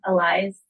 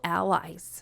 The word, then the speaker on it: allies: We are a community of Holy Spirit, filled and led women allies to each other and for each other. Wrong emphasis on the wrong syllable, allies and allies.